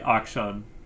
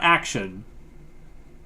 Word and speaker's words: Akshan: Oh, it does sound like Akshan. So I was pronouncing it correct. It's not action.